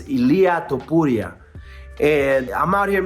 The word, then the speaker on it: Ilia Topuria: champion won and I I apologize for mispronouncing his name is Ilah topura and I'm out here